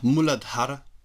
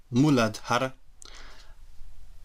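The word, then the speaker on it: mūlādhāra: the root chakra which in Sanskrit is pronounced muladar muladar and it means root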